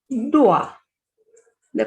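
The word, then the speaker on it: doigt: So the first example is dua. The pronunciation of O and I is ua. So this is duat.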